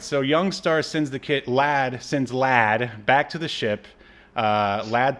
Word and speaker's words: Llahd: It's Lad. It's literally Lad. Oh my God! Wow. Like a young lad. But it's spelled LLAHD.